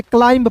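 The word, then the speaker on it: climb: बिल्कुल ध्यान से समझिएगा सी एल आई एम बी तो इसे क्लिंब नहीं इसे क्लाइंब पढ़ेंगे सी एल को क्ल पढ़ेंगे आई एम बी तो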